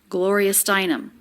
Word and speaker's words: Gloria Steinem: name again and again we have a little bit of stress on the stress level of gloria but then more stress on the stressed syllable steinem gloria steinem there's no separation between